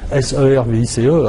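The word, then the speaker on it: CIRVIS: 3 ou 4 fois, le sigle service, que je croyais écrit S-E-R-V-I-C-E, alors que c'était C-I-R-V-I-S, mais en tout cas la prononciation était service, et je l'ai entendu plusieurs fois.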